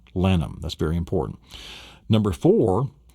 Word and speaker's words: Lannom: Lannom. Lannom.